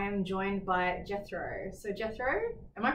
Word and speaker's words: Jethro: name correctly yes okay yes in a Dutch way yes it's too hard to explain to english-speaking people how to pronounce it properly on the edge but Jethro's perfect okay perfect so why